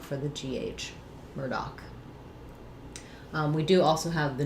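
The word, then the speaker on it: Murdaugh: are, it would be Murdoch. But in the specific case of the Murdoch mysteries, that family, Alec Murdoch, says it his family says Murdoch, like the word doc.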